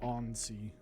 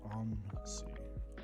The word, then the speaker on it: ANSI: Let's just say that I've built on an ANSI all 5 times. So, or ONSI. I know some people pronounce it ONSI.